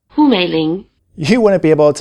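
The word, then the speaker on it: Hǔ Měilíng: a low tone, both full names would be pronounced "Hú Měilíng".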